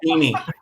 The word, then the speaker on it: Piney: I think it was pronounced Peony though. Oh, He pronounced it Peony.